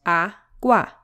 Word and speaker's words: agua: Like the word agua has two syllables, agua, and enciclopedia has five syllables, enciclopedia, and teléfono has four, teléfono. Great. Now notice that these words have the sílaba tónica or the stress syllable on the penultimate or second to last syllable.